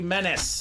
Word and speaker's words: Menace: Pronounce it like tennis. Menace. All right. Like Dennis the Menace.